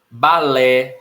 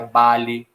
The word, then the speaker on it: balé: Balé, da língua francesa, né? Se não tivesse acento, seria bale.